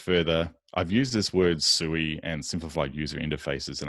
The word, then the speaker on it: SUI: And it's SUI, not SUI, because it's easy to say things like a long word like that with just a few syllables.